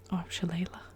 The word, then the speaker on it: shillelagh: some Gaelic at university, because it's a Gaelic word, I'm pretty sure. And I think it's shillelagh, I think, but shillelagh, I'm never sure, but something like that.